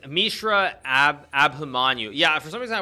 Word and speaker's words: Mishra Abhimanyu: It's Mishra Abhimanyu.